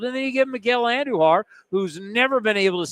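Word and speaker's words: Andújar: They're both Spanish-speaking players, and he says his name is Andujar. It was funny because every other guy whose name's spelled like that is Andujar. No one else is pronounced Andujar. Whenever he said Andujar, whenever he was in the press conference, I looked at Chris and because he was listening, I said, "Hey, Andujar, not Andujar."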